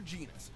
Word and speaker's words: Genus: the brilliant scientist dr genus whose half century of research into evolution name rhymes with penis well one punch according